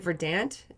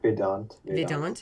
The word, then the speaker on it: Vedant: Well, did you want to talk more about is it Verdant? Or how do you pronounce it? Verdant Media? Vedant.